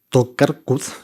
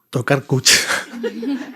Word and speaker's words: Tokarczuk: Y les cuento esto porque me he acordado, hoy al volver a casa, de este libro de Olga Tokarczuk, si se pronuncia así, Tokarczuk, escritora polaca como Cesari, premio Nobel de literatura,